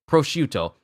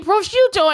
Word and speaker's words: prosciutto: Prosciutto. There wasn't any prosciutto anywhere. I said that wrong. I said that weird.